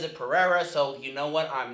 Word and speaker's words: Pereira: As of posting this video, Pereira nor his representation have responded to these allegations.